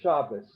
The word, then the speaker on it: Shabbat: delegation in the top in ashkenazi it's pronounced as an s into party of the